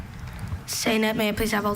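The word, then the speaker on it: saynète: studies class, Michael wrote and composed a short saynet based on a storyline from his favorite French comic book. Are there any alternate pronunciations? Just the one, saynet.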